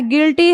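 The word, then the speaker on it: guilty: जी आई से गी ये यू हमारा क्या हो जा रहा है साइलेंट हो जा रहा है गिटार हो गया उसी तरह से गेस है गिल्टी है गिल्टी मींस अपराधी होता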